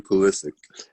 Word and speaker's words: Pulisic: Christian Pulisic.